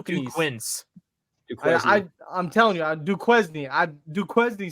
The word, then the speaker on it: Duquesne: have said du Quin I I'm telling you Duquesne I Duquesne sounds like that sounds like a name like I how would you pronounce Marquette if you didn't know if it